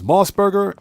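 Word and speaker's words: MOS Burger: That's basically how it's spelled. And I'm telling you guys, Moss Burger is like White Castle.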